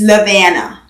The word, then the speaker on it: Lovina: And then the most common way that they pronounce that name is Lovina.